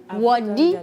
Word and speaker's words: Wadi: Wadi, parce qu'il faut qu'on commence à prononcer cela comme cela se dit. Wadi, voilà.